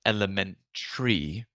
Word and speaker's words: elementary: like the pronunciation of Elementary the last syllable is spelled t a r y but tree element tree and if